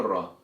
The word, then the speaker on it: ر: So if you pronounce the letter Ra in a proper correct way, then it should look and sound like this.